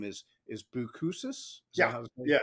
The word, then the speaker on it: Boucousis: It's actually you use the word because your your full name is and last name is is Buusus. Yeah. It's hard to pronounce.